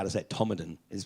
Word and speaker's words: Todmorden: time to learn be shown how to set Tomalin is pronounced it will spelt Todmorden of causa it's